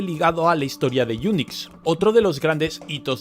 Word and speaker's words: Unix: que lo acabaron llamado unix acabado en cs ahora bien resulta que en inglés unix se pronuncia igual que eunucos y la pra de